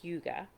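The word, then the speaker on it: hygge: it at this point it's spelled h-y-g-g-e it's pronounced yuga and and you again you may have heard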